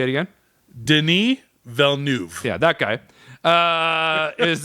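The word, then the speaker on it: Villeneuve: Deni Velnuv.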